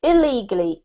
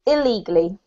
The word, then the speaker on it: illegally: word here is pronounced illegally illegally illegally yeah we put quite a heavy emphasis on this ill because it sounds very similar to the word legally if you're speaking quickly